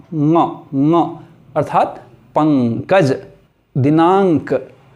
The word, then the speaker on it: ङ: तो इसको आज के बाद अंग या व या अणों के बदले आप ङ उच्चारण करेंगे, ङ।